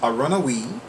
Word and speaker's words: Aronahui: I believe it's pronounced Aronahui 38, so it's A-R-O-N-A-H-U-I, number 3, number 8.